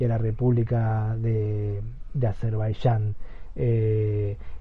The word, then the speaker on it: Azerbaiyán: donde ustedes estén escuchando es seguramente la pronunciación seguramente la forma en que yo la nombre a la gente que no vive en Argentina le va a resultar extraña pero bueno para nosotros la y se pronuncia como Y entonces es azerbayán e Pero bueno lo